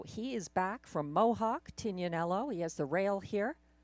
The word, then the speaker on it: Tignanello: And the 1, Tignanello. I guess that's the correct pronunciation, I've been told, by wine connoisseurs. So he is back from Mohawk, Tignanello.